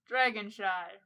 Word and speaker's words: Dragonshy: And that was Dragonshy. See you next episode, guys. Dragonshy rhymes with goodbye.